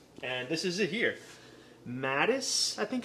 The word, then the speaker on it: Madis: Madis, I think it's pronounced, Madis Coffee.